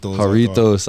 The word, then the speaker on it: Jarritos: How do you pronounce this, Steve? Jarritos.